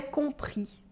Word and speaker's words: compris: à will say that it is j'ai compris de silent s j'ai compris goode watchmen